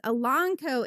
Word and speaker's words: Elanco: I was 43 years old when I found out that it is Elanco and not Elanco. Elanco. Oh. Elanco, not Elanco.